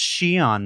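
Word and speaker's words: Xi'an: And if your instinct was to stop the YouTube video and go immediately to comments and say it's pronounced She-on, Mark. Yeah, it is pronounced She-on.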